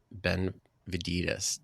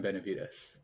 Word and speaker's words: Benevides: Today's guest, Kevin Benevides. Did I say it wrong even though we just went over it? Yeah, you did, but it's all good. Okay, correct me then. Let's get it right. Kevin Benevides.